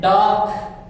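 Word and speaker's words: dark: यहां पे देखिए डार्क में आर या आपका silent, डार्क, डार्क, डार्क night, डार्क, डार्क, डार्क, डार्क, डार्क।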